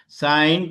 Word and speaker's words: sine: Pronunciation साइन ही करेंगे, सिन नहीं बोलेंगे।